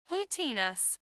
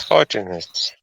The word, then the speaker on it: haughtiness: Hootiness. What? Mm. No, it's Hootiness. No. transcription. Transcription is like Yeah. haughtiness. Can we check on the Hootiness. English hmm pronunciation? It's haughtiness, like haughty, Haughty.